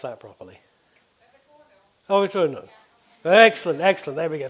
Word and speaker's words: Övertorneå: Right, so number 1, in Sweden, who's going to tell me how to pronounce that properly? Oh, Övertorneå.